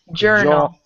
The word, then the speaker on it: journal: Journal. Journal. Mm-hmm. And journal. Don't lose your J when you're reading. Your J was sounding like a Y a little bit, like in the urinal almost.